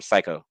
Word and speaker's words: CICO: Uh, I call him Psycho. That's how we pronounce it, CICO.